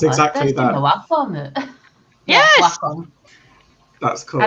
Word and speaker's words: Wacom: I'm on my Wacom. Apparently, that's how it's pronounced. I still stand by Wacom, not Wacom.